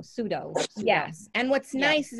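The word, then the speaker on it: Tsuido: Well, I'm not saying it right, but I call it Sudio. T-S-U-I-D-O. Sudo.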